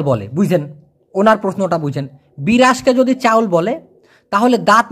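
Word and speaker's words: beras: বলা হয় বের রাস বি ই ব আর এস এস হবে ছ এর মত উচ্চারণ এজন্য ব্রাস মানে চাউলকে বলা হয় ব্রাশ আর আমরা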